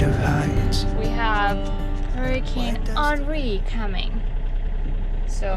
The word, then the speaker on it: Henri: We have Hurricane Henri coming. So. Oh, it's Henry. No, Henri. How do you spell it? Henry with Henry. I think it's just French.